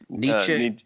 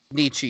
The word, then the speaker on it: Nietzsche: Nietzsche. Nietzsche, yeah.